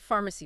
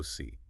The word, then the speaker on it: pharmacy: Three syllables. Pharma. C. Look at the spelling. It starts with a P and an H, but in English that combination blends together to make a soft F sound. Far. The middle syllable is a soft m. And the final syllable uses a C that sounds like an S.